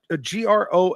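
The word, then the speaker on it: Grohl: Cool J song 1969 uh Dave is it pronounced g r o HL from derana Gro yeah absolutely and the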